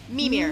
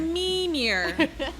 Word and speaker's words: Mimir: So it's, give me the pronunciation, the correct pronunciation. Mimir. Mimir.